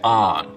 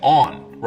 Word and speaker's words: on: line, most people say on, rhymes with don. South of it, they say on, rhymes with dawn.